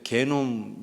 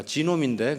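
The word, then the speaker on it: genome: 그러면서 그때 개놈 얘기하시더라고요. 근데 그거는 이제 독일식 발음이잖아요. 근데 미국에서는 지놈이라고 그래요. 그래서 내가 지놈인데 그랬더니 옆에서 하는 말이 개놈이나 지놈이나 그놈이다.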